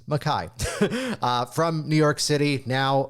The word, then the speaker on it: Mackay: Take note, it's not Mackay, it's spelled that way, but it's Mackay.